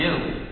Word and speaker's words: gnu: many jokes is that according to the dictionary it's supposed to be pronounced new just like the word for something that's the opposite of old right so people are